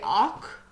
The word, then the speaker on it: awk: not cover it up we don't pronounce that L in that why don't we just say awk say awk awk okay and this is in